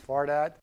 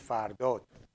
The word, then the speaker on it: Fardad: When I speak in English, I pronounce my name incorrectly. So I say my name is Fardad, but in reality, my name is Fardot. Okay, so Fardot is the correct origin pronunciation of it. But Fardad will do too if your dad is far and you're lucky.